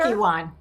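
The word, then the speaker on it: Kukkiwon: for her master level in Taekwondo at the Kuku Wan. Is that how you say it, Center? Kukiwan, yeah.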